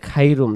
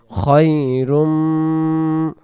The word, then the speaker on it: خير: কেউ যদি বলবে খাইরুম তাহলে উচ্চারণটা ভুল হয়ে যাবে, উচ্চারণ হবে খায়রুম খায়রুম।